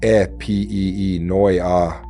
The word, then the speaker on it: Epinoia: Epinoa pronounce it e p e noi a translators render it through ideas such as insight, reflection, intention or awakened thought.